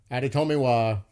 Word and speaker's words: Adetomiwa: So imagine getting Darnell Washington, Adetomiwa, and then picking up we got to Spears.